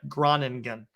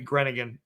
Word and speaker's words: Groningen: i'm saying that right groningen okay it might be granigan depending if there's an umlaut or not but anyway granigan in